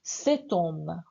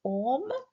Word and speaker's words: cet homme: On fait la liaison. La liaison, c'est obligatoire. Donc, cet homme. Oui, répétez, cet homme. Cet homme parle vite. Oui. So homme, c'est faux.